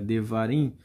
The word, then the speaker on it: Devarim: que seria feita a leitura em hebraico, seria Devarim, significa palavras, tá?